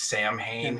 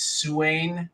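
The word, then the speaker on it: Samhain: have chimed in on this because Lumis says pronounces the word is Sam ha which sounds really cool but I guess the correct pronunciation is suan yeah even though it's spelled and so a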